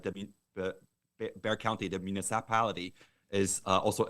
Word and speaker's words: Bexar: Yeah, you guys actually have a project in Bexar County, Texas, that you told me about, correct? Yeah, it's actually pronounced Bear County, which I pronounce it Bexar.